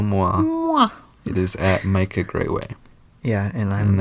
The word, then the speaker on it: Grawey: it is at Micah Grayway. Yeah, and that is MICAHGRAWEY because nobody knows. It is not spelled like Grayway.